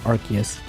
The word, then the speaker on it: Arceus: They pronounce as Archus is. I'm calling it Arus because that's also what the Japanese pronounced it as.